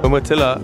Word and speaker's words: Umatilla: Umatilla, Oregon.